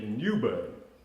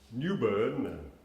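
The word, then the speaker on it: New Bern: Et je commence avec la ville, on m'assure que la bonne prononciation, c'est Newbern. Newbern, Nouvelle-Berne, n'est-ce pas, qui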